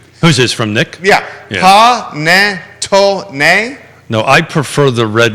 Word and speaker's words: panettone: Panitano? Okay, he actually phonetically... Who's this, from Nick? Yeah. Panettone?